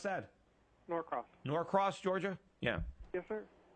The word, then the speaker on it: Norcross: How do you pronounce that? Norcross.